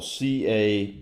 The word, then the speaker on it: cabotage: vegetable but cavities spell c-a-b-o-t-a-g-e actually a french word more properly pronounced cabotage so what is cabbage